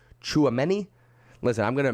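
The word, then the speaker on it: Tchouaméni: starting your days mukesh says it's pronounced chuameni listen i'm gonna mispronounce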